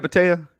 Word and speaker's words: Mattea: Am I saying it right, Mattea? Yes.